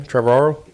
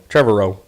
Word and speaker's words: Trevorrow: Colin, how do we figure out how to pronounce his name? Trevorrow? Trevorrow. It reminds me of Tio Moro, so I get hung up on that.